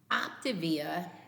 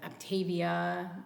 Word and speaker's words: Optavia: Now, Optavia, and yes, I've looked into this. That's how you pronounce it. Some people pronounce it Optavia, but it's Optavia is how the reps call it.